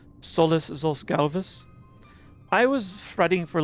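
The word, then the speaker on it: Solus zos Galvus: The pronunciation for his name, Solless Zalvus.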